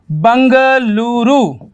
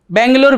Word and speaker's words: बेंगलुरु: और कर्नाटक की राजधानी बंगलुरु। ठीक है ना, क्या हो गया? बंगलुरु। आप लोग बेंगलुरु बेंगलुरु बोलते हैं, इसका प्रोनाउंसिएशन जो कर्नाटका की लैंग्वेज है उसके हिसाब से बंगलुरु।